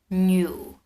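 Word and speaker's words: 牛: is the ox and the ox is new new this is kind of difficult to pronounce i would say it's a niu new new you have to do this thing with your mouth new new okay so the ox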